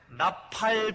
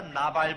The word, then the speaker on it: 나팔: 나팔 분다고 하는 말하다 나발 분다고 하면 그건 분명한 얘기가 아니고 그건 발음이 잘못되었죠. 나팔이죠.